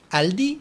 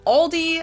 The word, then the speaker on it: Aldi: is a German grocery store oh I think Aldi or Aldi yeah it should be like Aldi